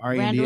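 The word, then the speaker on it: Randle: Randall R-A-N-D-L-E. spelled with an like handle. handle, only with an R.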